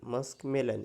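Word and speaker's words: muskmelon: मस्कमेलन म्हणजे खरबूज okay इथं मूस्क नाही म्हणायचं ओके प्रोनाऊन्सिएशन कसं आहे मस्क एम यु एस के मस्क मेलन एम इ एल ओ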